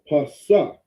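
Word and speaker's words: פסח: How we say it is Pasak. All right? Pasak. All right? Those Jewish people, they have their weird vowel points, right? Which let them know that they pronounce it differently. I'm pretty sure they say Shah instead of Sa.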